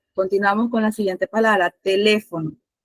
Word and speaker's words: teléfono: Teléfono lleva acento. Ustedes saben de por sí a dónde recae la mayor fuerza de voz. ¿En qué sílaba? Las divisiones de sílabas, ¿cuáles son? Ya yo se las mencioné anteriormente. Última, penúltima, antepenúltima y tras antepenúltima sílaba. Ahora les pregunto, ¿en qué sílaba recae el acento? Antepenúltima.